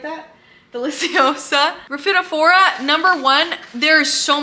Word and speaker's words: deliciosa: That's a Monstera Delosia. Why did I say it like that? Deliciosa.